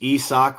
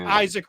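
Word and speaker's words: Isak Rosén: It's I think there's another syllable in there. No, it's Esoch. Rosan. Yes, it's Esoch. Yes. It's not Isaac Rosen.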